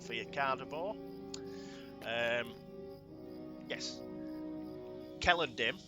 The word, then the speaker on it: Celondim: you cardor um yes Kell andm even though it begins with the c it's pronounced Kell so bit more Elish